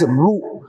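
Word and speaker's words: ரூ: is in Tamil language, which is pronounced as Ru.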